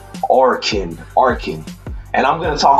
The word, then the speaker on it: Arkin: Oh, let me say his name properly. I don't want to mess it up. It's Arkin.